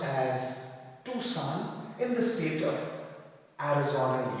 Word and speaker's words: Tucson: on March 31st, 1980 at a place called Tucson, spelled as Tucson but pronounced as Tucson in the state of Arizona, USA.